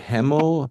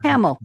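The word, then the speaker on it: Hamel: Veronica, how do you say it? Hamill? Hamill. Hamill's good enough. Hamill? I would Yep. say Hamill, yeah.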